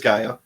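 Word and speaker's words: G'iah: imately character GA G which I struggled with pronunciation was a Gia was a guy I've heard it said both ways but it is Gaia said enough of the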